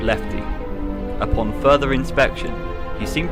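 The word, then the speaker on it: LEFTE: and one was titled l-e-f-t-e pronouncing lefty the letters stand for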